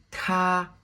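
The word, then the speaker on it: 他: avec le premier temps ta lorsqu'on prononce le T en chinois avec de l'air ta qui signifie il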